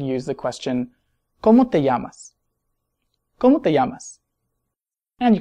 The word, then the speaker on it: llama: And you could use the phrase, ¿Cómo se llama usted? ¿Cómo se llama usted? And notice that the double L in these is often pronounced like a Y in many accents, although that might vary from country to country.